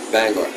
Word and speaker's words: Bangor: And uh but it's How do you say it the right way? Bangor. Bangor. Yeah. Bangor. So it's like G O R E at the end of it, not E R. Not Banger. Not Banger.